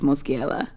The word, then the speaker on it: Moschiella: So my last name's Michelle, but in Italian it's Moschiella. But everybody here would pronounce it Michelle.